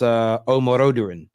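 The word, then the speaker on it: Omorodion: They're also linked with the young striker at Ati, and I think it's pronounced Omoroduran.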